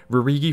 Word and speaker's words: Rhude: And final fun fact, Rhude is spelled like rude because it's tradition in Rhude's family to start all the names with RH, so like Rhude is just rude with an RH, so it makes rude instead of rude.